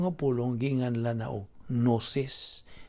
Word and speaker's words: gnosis: So, ang gitudlo nga pulong sa Dios, sa Griego nga pulong ginganlan na og gnosis, Gnosis. Silent G na, gnosis.